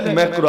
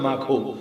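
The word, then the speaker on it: Macron: বাংলাদেশে Emmanuel ম্যাক্রো ডাকিলে ম্যাক্রো আসলে উচ্চারণ মাখো তো যাই হোক মাখো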